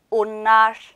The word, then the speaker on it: onlar: onlar 이렇게 발음이 돼요.